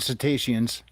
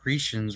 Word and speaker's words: cetaceans: Yeah, humans and cetaceans. Is that how you say it? Yep. I think Cetaceans. I've been saying like Cretians or whatever the fuck.